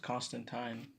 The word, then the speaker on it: Constantine: my favorite characters ever John Constantine or taxi pronounced cost and time in the comic books but John Constantine he's